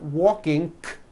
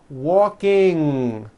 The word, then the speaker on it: walking: not a K sound there is not a case out the word is not walking it's walking with that ng ending okay walking let's practice